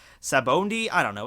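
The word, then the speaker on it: Sabaody: got wrong below, like my pronouncing of Sabaondi, which I know is probably going to get a lot of... That's how they pronounce it in the Funimation dub, and I listen to the Funimation dub, so that's how I pronounce it.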